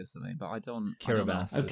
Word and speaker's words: Kiribati: Kiribati. Okay. That's how it's pronounced.